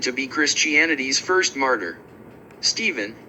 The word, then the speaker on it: Stephen: Stephen, and the older pronunciation of nephew, still maintained, were said to be the only cases where English ph isn't pronounced as /f/.